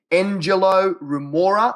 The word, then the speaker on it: Engelo Rumora: alternatively mate if they type in my name Angelo rora let me spell that out e n g e l o